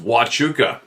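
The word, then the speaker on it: Huachuca: around huuka US Army based Sierra Vista Arizona pronounced wuka is the US Army Installation in cois County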